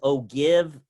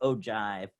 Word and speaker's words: ogive: So for the ogive, even though it says ogive, it's pronounced ogive.